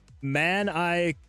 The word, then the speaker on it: manicotti: Uh the gaming owl says if you want to pronounce it right, it's basically manicotti.